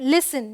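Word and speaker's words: listen: यहाँ पे एस टी है, ये है फासन, टी साइलेंट है। ये है ग्लिसन, ये क्या है, लिसन, ये क्या है, मॉइसन।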